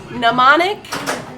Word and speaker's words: mnemonic: And I love the weird little video mode in Johnny Mnemonic.